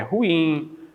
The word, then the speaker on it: ruim: Outro caso aqui é ruim e não é ruim. Então, este pincel é ruim, a caneta é ruim, é a pronúncia correta, ruim.